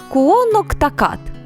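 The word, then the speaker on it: Quinnehtukqut: Мовою місцевого індійського племені конектикут звучить як куноктакат.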